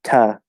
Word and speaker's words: to: In fact, it's usually reduced to ta.